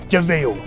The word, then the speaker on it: de Vil: It's spelled devil, but it's pronounced Deville.